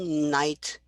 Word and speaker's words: knight: a k right no knight i mean they're not k is not pronounced but it's there versus would you what